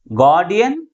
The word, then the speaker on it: guardian: That means if the word ends with the suffix IAN, then the primary stress is on the third syllable from the last.